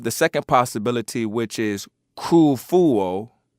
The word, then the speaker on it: Khufu: and that is because K fuo regardless of the spelling it is actually pronounced the same K fuo and it would actually